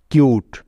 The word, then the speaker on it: cute: Next উদাহরণটা হলো CUTE, কিউট। লক্ষ্য করে দেখো, এখানেও শব্দের শেষে একটি সাইলেন্ট ই আছে, অর্থাৎ অনুচ্চারিত ই আছে, তাই